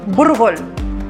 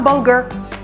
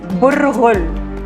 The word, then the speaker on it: burghul: It is the dainty of the dainties of bulgur, or cracked wheat, or as we actually call it, burghul. Not bulgur, burghul. You gotta roll your R's.